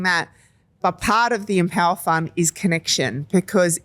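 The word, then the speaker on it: EmpowHER Fund: And the Empower Fund is with a silent H.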